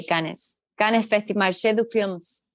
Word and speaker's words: Cannes: How do you say Cannes? Cannes Festival, Marché du Films Festival in Paris, in France. Not as beautiful as that. I usually say canes. Canes. Okay, like dogs.